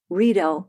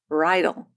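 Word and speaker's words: Riedel: pronounced Geon just as redel glasses spelled r i e D- L are pronounced redel not Bridal anyway I just note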